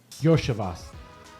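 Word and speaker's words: Iosivas: Losavas. How you say his name? Yoshivas.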